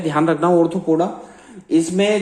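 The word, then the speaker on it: Arthropoda: 6 है ऑर्थोपोडा, ARTHOPODA, ऑर्थोपोडा। ओ से start मत कर देना स्पेलिंग, ठीक है, बोला जाता है ऑर्थोपोडा, लेकिन ओ नहीं है, ARTHRO, ऑर्थो, THRO है ये, THRO।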